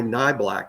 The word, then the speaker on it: Nyblack: in the recruitment that Amari pronounces his last name in the black but it's that's not true it is Amari nyblack as I was saying correctly from from the start so whoever told me